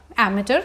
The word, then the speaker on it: amateur: so this word is pronounced as amateur, and this word means